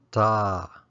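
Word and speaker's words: တာ: It's pronounced da or da.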